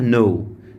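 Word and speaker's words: know: بالظبط نفس النت بتاعها نو نو الكي هنا سايلنت ليه سايلنت يا مستر لان الكي في اول الكلام لو بعدها ان الكي مش بتتنطق زي كلمه نايف نفس الكلام برض دخان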